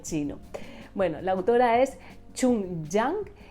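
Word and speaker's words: Jung Chang: XX en China la autora es china es chun chang bu me cuesta un montón encima de que me cuesta muchísimo pronunciar ya lo que me faltaba era el chino bueno la autora es chun jang y el libro se llama cisnes salvajes eh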